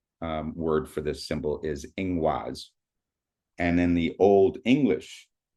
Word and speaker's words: ingwaz: The Proto-Germanic word for this symbol is ingwaz.